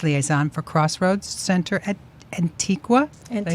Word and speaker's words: Antigua: Robbin served as the outreach and communications liaison for Crossroads Center at Antigua. Did I say it right? Antigua, yes.